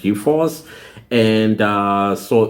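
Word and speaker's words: G4S: G 4S but they it's pronounced G-Force and uh so it's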